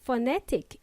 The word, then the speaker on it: phonetic: By the way, phonetic is spelled as P-H-O-N-E-T-I-C, and it's pronounced with an F. How ironic! We spell it with a P, P for Peter, and then we pronounce it with an F, F for Freddy.